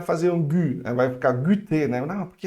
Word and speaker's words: goûter: E por último, mas não menos importante, é o goûter, tá ok? Goûter. Observa o O com U, vira U. U mesmo, normal.